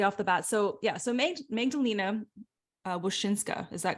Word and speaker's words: Magdalena Wosinska: So Magdalena Wosinska, is that correct?